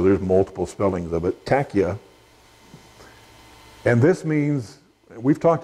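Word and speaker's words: taqiyya: uh that doctrinal i'll talk about is called tachia it's spelled different ways t a q q q i y a and some put an h on there so there's multiple spellings of it tachya and this means we've talked about a little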